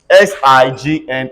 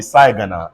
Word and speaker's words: sign: die look at this s i g n cannot be sagana everybody says sign again again but when they